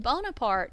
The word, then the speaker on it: Bonaparte: difference in that but Bonaparte is the french spelling and pronunciation of his name bueno parte is the